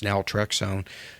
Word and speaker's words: naltrexone: You know, the thing when you describe is it naltrexone? Is that how you pronounce it? Naltrexone. Naltrexone. Yeah.